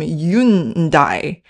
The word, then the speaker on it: Hyundai: where we call him Yunai." And obviously, you know, in France, they don't pronounce the H at the beginning of a word.